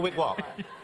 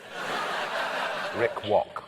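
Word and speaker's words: Rik Rok: Rick Rock's So Shaggy's talking to Rick Rock? Rick Walk.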